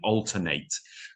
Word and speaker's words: alternate: I would alternate. Now a similar word is the word alternate which is uh which is an adjective. Um, and the that that is pronounced differently but spelled exactly the same.